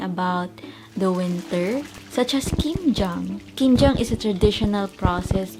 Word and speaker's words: 김장: aware in Korean culture, kimjang may sound like kinjang, which is nervousness in Korean.